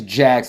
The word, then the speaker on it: Jax: It is Jax, like Jax Teller.